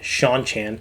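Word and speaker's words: Seanchan: sh the sean chan i can never say their name properly it is sean sean chan showing up and making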